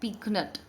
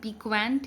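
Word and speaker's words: piquant: सो दोस्तों, आज का जो पहला वोकैब है वो है पीकनट। आप इसकी प्रोनाउंसिएशन पे ज़रूर ध्यान दीजिएगा। इसे पीक्वेंट या पीक्वेंट नहीं बोल सकते हैं, आप इसे बोलेंगे पीकनट।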